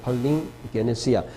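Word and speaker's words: παλιγγενεσία: 단어는 루트론이란는 말이고 어 중생이란 말은 여기 보면 팔린 게네시아 여기 감마가 앵발 발음이 나기 때문에 두 개 합할 때는 팔링 게네시아 게네시아는 제네시스 우리가 창세기 태어남 이런 거고 팔리는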